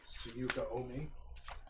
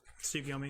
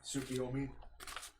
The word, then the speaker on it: Tsukiyomi: I mean, they're the Heavenly Seven, and they have the power of literally the knight Tsuyuka Omi. Did I say it right? Tsukiyomi, yeah. Tsukiyomi.